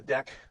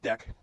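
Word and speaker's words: deque: and a few other containers that use the link list container adapters, specifically the deck. It looks like DQ is pronounced deck stack and Q.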